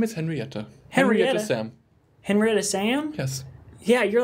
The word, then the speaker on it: Salm: Henrietta Sam. Henrietta Sam? Yes. Yeah, your last name's a first name. Well, there's a silent L in it. Where? Right around in the middle. S-A-L-M. Oh, like salmon.